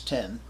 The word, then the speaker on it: OS X: Then of course 10 post facto, which many people today pronounce X post facto, but I lived through the introduction of OS 10, so yeah, OS X doesn't exist for me, which allowed you to